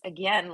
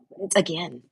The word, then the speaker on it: again: I have to pronounce again like a Canadian strange they pronounce it as like a game like like it's two words but put into one a game again because it's combined now